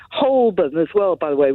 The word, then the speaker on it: Holborn: than h and worse than other people saying holburn as well by the way which you haven't brought up yet holborn which is another bad one the whole born they say well that's that's one of those